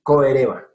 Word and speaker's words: Coereba: No es chereba, perdón, es coereba. Se me pegó el chereba que durante años usé.